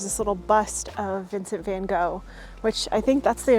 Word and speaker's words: Van Gogh: I think it's pronounced Van Gogh here but I used to have a Dutch co-worker and I believe that she said that the actual pronunciation was like van Hoff or van hoe so I guess I